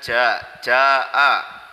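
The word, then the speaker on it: جاء: Kemudian jaa, jimnya itu dibaca panjang 5 harokat atau 2,5 alif.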